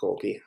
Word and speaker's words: Golgi: I pronounce it Golgi, Trey pronounces it Golgi.